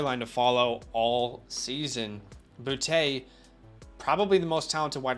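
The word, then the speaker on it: Boutte: booty i mean i think it's bootay it's booty i'm calling him booty you think it's booty i think i mean literally every announcement announcer is saying booty so yeah i mean so he's saying it wrong this is we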